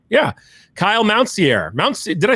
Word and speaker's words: Mountsier: Kyle Mountsier. Did I say it right already? Mountsier. Just super simple. Sear. Yeah.